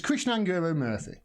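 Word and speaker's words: Krishnan Guru-Murthy: it's kira grisham murphy i think i've pronounced his name right there krishnan go it's krishna anger murthy and he said this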